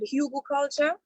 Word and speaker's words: hugelkultur: She's saying it right. Hugelkultur. But it's culture with a K.